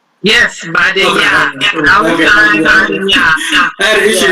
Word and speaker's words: Badenya: Yes, Badenya.